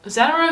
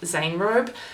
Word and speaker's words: Anaerobe: So this brand, Anaerobe, well, Anaerobe is what we've been saying, but I'm pretty sure it's pronounced Anaerobe.